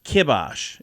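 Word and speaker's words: kibosh: kabash let's put the kibos uh it's actually kibos is the way you said or or you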